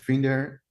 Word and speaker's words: Winder: co-founder of Winder. I pronounce it because that's the Dutch pronunciation for the word.